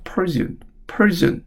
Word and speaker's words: Persian: 9번 페르시아인의 이런 뜻인데 영어에서는 페르시아인으로 안 읽습니다. Persian이라고 있습니다. Persian 이렇게 있습니다. Persian 발음이 완전 다르죠.